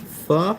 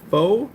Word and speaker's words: pho: ISG says, "Love me some pho correctly pronounced fu." Some American nonVietnamese speaking people say faux, which can't fault them for, but correct pronunciation is fu.